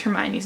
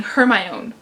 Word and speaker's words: Hermione: the Harry Potter movies not knowing how to pronounce Hermione's name I went through three and a half books saying her my own and I'm thinking who named the kid her